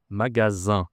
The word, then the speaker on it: magasin: Ça s'écrit avec un S. Et tu as une nasale à la fin. Magasin.